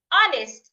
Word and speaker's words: honest: In the word our honest and honor, the age should not be heard.